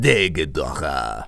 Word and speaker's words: Desghidorah: Secondly, it's pronounced Desghidorah.